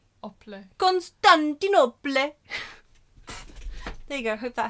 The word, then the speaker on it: Constantinople: Constantin opal, but like instead of opal like the stone, it's op. Constantinople.